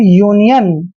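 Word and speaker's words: union: है, एक कॉन्सोनेंट है, और कॉन्सोनेंट के ठीक बाद अगर वावल आता है तो यू का उच्चारण यू ही करते हैं, इसलिए इसको पढ़ेंगे हम यूनियन।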